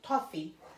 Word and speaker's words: toffee: I would call it toffee rhymes with coffee coffee coffee toffee coffee coffee I say coffee that's the long Islander way of saying it Long Island long